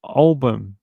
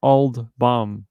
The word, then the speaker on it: Olbum: Hi, his name is Olbum, not Old Bum, but hey, you pronounce it how you want to pronounce it.